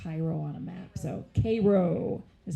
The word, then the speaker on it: Cairo: So Cairo is how you pronounce it.